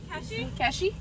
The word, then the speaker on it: Keshi: Keshi.